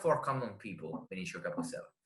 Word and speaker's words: Vinicio Capossela: So do you know Vinicio Capossela? I don't know if I'm pronouncing that correctly. It's a non-metal. Vinicio Capossela, sì. Okay, yeah. Okay. Vinicio Capossela.